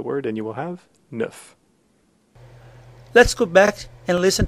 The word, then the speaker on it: neuf: 9, And for the number 9, neuf, is a fairly simple sound as well. If you think of the word nefarious, which has NEF at the beginning, if again you just take the beginning of that word, neuf, and leave off the rest, you'll have the correct sound.